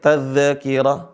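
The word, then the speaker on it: تذكرة: gak terlalu sulit ya berikutnya tazkirah tazkirah Taz ya bukan Taz Inna hadzihi tazkirah t tazkirah Inna hadziihi tazkirah ahah ini yang benar tazkirah dialirin suaranya ya Sekali lagi saya baca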